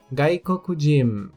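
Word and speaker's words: がいこくじん: Gaikoku, país estrangeiro, que acrescentado o kanji referente à pessoa se torna gaikokujin.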